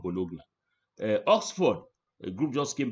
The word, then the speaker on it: Bologna: By the way, it's pronounced Bologna, not Bologna.